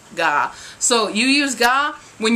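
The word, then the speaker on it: が: is another subject particle called ga now don't be a weird american be like god and say with a really hard g that kind of sounds wrong but kind of with an ng sound to it like nah but not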